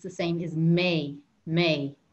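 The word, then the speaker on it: mé: it's the same is may may m-e with an accent may think of the month of may in summer okay may so che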